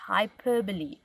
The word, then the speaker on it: hyperbole: you might not know as well it's a hyperbole so it looks funny but it's it's pronounced hyperbole now this is when you exaggerate so I'm